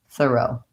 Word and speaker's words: thorough: In terms of the syllable stress, we want long, short, thorough. This is a very good example of how spelling does not really match sounds in words. So we have a very strange spelling of this word for the sounds.